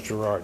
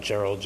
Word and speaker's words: Gerard: Just for the record, it's written in there as Gerard, right, not Gerald.